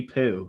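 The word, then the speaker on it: Pugh: poo poo yeah poo it's actually poo like it's it's pronounced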